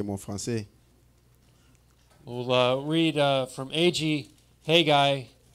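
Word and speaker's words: Aggée: I think in French it's pronounced Agi.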